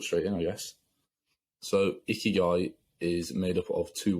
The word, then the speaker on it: ikigai: in I guess so ikigai is made up of two words um it's it's spelled i-k-i-g-a-i uh the first word is icky and that means life and then the second word is guy and that means kind